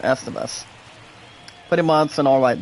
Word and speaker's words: Estevez: Not Steve's guys, but Estevez.